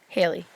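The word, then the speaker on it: Halley: you okay he always comment correct is it Halle or Haley Haley okay because I've heard it pronounced both ways I've always known it as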